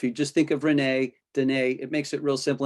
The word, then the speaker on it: Dynee: spelled d-y-n-e-e but it's it rhymes with renee so if you just think of renee danae it makes it real